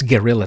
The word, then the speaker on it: Guerrilla: No, not Gorilla Tactics. Guerrilla Tactics. It's different.